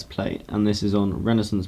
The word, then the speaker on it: Renaissance: and this is on renissance blood or Renaissance if the mood takes you to pronounce it that way and this